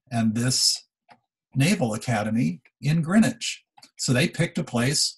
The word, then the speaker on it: Greenwich: meridian is actually here in greenwich this is pronounced greenwich in england because as the people were being